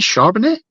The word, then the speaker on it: Charbonnet: I want to say Charbonnet? No. Yeah. How do I pronounce it? It's Charbonnet, yeah.